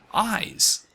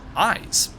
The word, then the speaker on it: Isz: is as I've been pronouncing before is actually pronounced eyes and that seems to me to be a